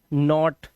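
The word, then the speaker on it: naughty: तो ये हो गया कॉट, ये कॉज, नॉट, नॉट लास्ट में वाई है तो नॉटी, और ऐसे ही डॉटर, ओ की आवाज आ रही है, आप देख सकते हैं यहां पर।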